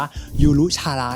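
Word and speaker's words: ゆるキャラ: เขา เลย นะ ครับ ก็ คือ อ่าน ว่า ยูรุ ชาระ นั่น เอง ครับ ที่ แปล ว่า มาสคอ เลย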